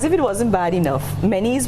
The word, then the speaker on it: Menezes: it wasn't bad enough, Menes was already a challenging name because it's spelled Menezes. So I've gotten, you know, mayonnaise. I've gotten, well, the people from the Spanish-speaking countries would say Menezes. It's really pronounced, so my ancestry is Portuguese.